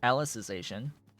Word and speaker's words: Alicization: pronunciation of the word it is alicization or the process of making alice you can you can think of it as that which has its own